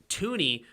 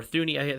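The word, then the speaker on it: Thuney: that much and then their guard tooney right now or thuny they pronounce it toony right um he is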